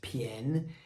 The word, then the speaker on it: 便: Bian can also be pronounced pian.